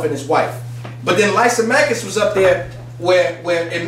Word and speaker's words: Lysimachus: His name is a little hard to pronounce. It's called Lysimachus. Lysimachus.